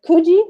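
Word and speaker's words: Coogi: These are Kuji. Is that how you told me to pronounce it?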